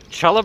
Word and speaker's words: challah: bread, it's not pronounced challah bread. It's pronounced challah bread. Because in English translations, in terms of the Cyrillic alphabet from Hebrew to English, well, CH, or an English CH, makes a huh sound.